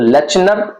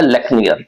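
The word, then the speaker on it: Lechner: लेकनियर जो है वो आपको एल ई सी एच एन ई R this is the spelling. ये स्पेलिंग है तो लेनर लेनर भी बोल सकते हैं लेकिन जो ओरिजिनल है वो है लेकियर ठीक है दूसरा जो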